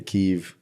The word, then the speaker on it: Kyiv: Well, and isn't there something about if you want to side with the Ukrainians, you have to say Kyiv and not they Kiev.